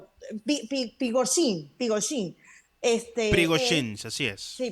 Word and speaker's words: Prigozhin: el grupo Wagner y el señor, ¿cómo se pronunciará? Prigozhin, él, Prigozhin, así es.